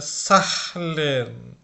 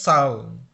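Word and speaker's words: zahlen: তারপর হচ্ছে সালন, এটাও কিন্তু অনেকে বাংলাদেশে উচ্চারণ করে সাহলেন, এটা কিন্তু একদম ভুল উচ্চারণ। এটা উচ্চারণ হচ্ছে সালন। কোনো এখানে হয়ের উচ্চারণ বা হায়ের উচ্চারণ, এইচের উচ্চারণ হবে না।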